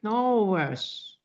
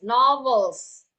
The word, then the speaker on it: novels: Still ada L-nya, ada kedengaran L di situ, tapi pakai S. Okay, so just keep on trying that novels. Yang harus diingat saat pengucapan vowels itu lidah bagian depan ujung depan itu seperti menyentuh bagian langit-langit. Novels.